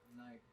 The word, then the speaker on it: knife: There's one you put a K in front of the knife.